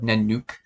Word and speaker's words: Nanuq: paleontologists give dinosaurs well you might be familiar with the word nanuk and it's spelt n-a-n-u-q and it means polar bear in inuit and sin nanuksaurus means polar